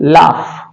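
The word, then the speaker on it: laugh: तरह से एल ए यू जी एच इसका उच्चारण होगा लाफ उसी तरह से यू जी एच इसका उच्चारण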